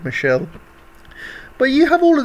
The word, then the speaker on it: Michel: I know it's you spell it as Michael, but you know, they call it Michelle.